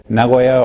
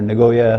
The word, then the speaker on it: Nagoya: We're from Nagoya, or Nagoya, Americans pronounce it, Japan.